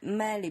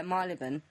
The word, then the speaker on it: Marylebone: open up in men I merely but not my leben I've said it right I don't know I can never say that word right neither then road yeah marylebone which is where it